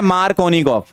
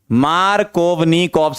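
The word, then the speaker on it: Markovnikov: आपका एक रूल होता है मार्कोनिकॉफ, है ना, मार्कोवनिकॉफ्स रूल बोलते हैं। अलग अलग बुक में अलग अलग स्पेलिंग लिखी हुई है, अपन तो ये मानते हैं, है ना, मैं ये मानता हूं मार्कोनिकॉफ रूल।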